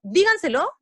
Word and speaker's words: díganselo: Digo, díganselo, díganselo, o digo, díganselo, ¿dónde yo acentúo la voz? ¿En qué sílaba? La sílaba se acentúa en la, disculpen, se acentúa en la sílaba di.